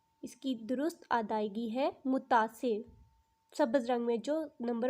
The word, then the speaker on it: متاثر: ان دونوں میں سے درست تلفظ کون سا ہے؟ متاثر، متاثر؟ جی ہاں، اس کی درست ادائیگی ہے متاثر، سبز رنگ میں جو